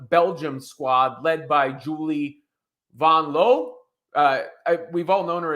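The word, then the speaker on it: Vanloo: a a game Belgium Squad led by Julie vanon L uh we've all known her as Julie vanl before but apparently the correct pronunciation is Von L nonetheless Sabrina said sh at the end of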